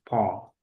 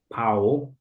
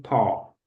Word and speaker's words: paw: Yes, Po. Jadi bukan Pu, bukan PW, tapi Po.